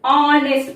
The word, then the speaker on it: honest: Hours नहीं बोलेंगे, ह का प्रोनाउंसिएशन, उच्चारण हम क्लियरली करते हैं हॉर्स में, लेकिन ऑनेस्ट में और आर में एच क्या है? साइलेंट है। एच जो कॉन्सोनेंट है, व्यंजन है, साइलेंट, उसका आवाज नहीं, साइलेंट है।